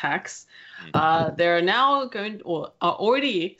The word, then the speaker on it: Hax: that's spelled h ax and it's pronounced ax there are now good